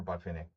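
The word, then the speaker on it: Botvinnik: Buffenik. I was just doing a Buffnik game in analyzing one of Buffnik's games and the cool thing about Bvenic or Bfinick to pronounce it correctly is that he was so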